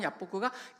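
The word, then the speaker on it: יַבֹּק: 뭐냐면 야복강이라고 야복구가 야복라고 되어 있습니다. 그게 바로 히브리식 발음입니다. 야복.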